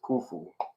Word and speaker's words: Khufu: And he says, and Rikayon is how they say it in Jasper, but it's Khufu.